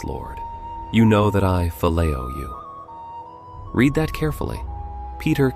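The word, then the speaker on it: φιλέω: The second word is phileo, pronounced phileo.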